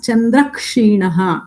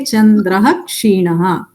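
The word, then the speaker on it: चन्द्रः क्षीणः: You can't pronounce it as chandrakshinaha. You have to say chandraha kshinaha.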